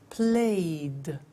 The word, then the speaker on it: played: Now, the pronunciation at the end of those verbs is soft, not like walk, which is hard, it's soft. Play, clean, study, close, snow. So, the pronunciation of ed becomes D. It becomes played.